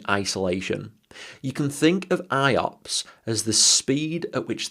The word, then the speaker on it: IOPS: There's the IO or block size, the input output operations per second pronounced IOPS and then the throughput.